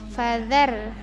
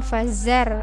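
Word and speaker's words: فَذَرْنِي: Perhatikan fadzar, ini huruf zal di ujung lidah ya. Fadzar pakai di ujung lidah, bukan fazar atau fajar, salah ya.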